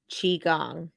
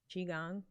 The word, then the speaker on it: Qigong: I'm there look at Qigong Qigong yes it's spelled Q I gong okay uh it's kind